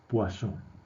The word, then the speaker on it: Poisson: biografía en la wikipedia es un nombre por lo tanto hay que respetar su pronunciación es guasón bien como son estos